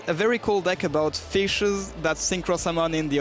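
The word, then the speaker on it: ghoti: uh which is if the gh in enough is pronounced f the o in women is pronounced e and the ti in nation is pronounced sh then goi is just pronounced fish and that is absolutely incredible.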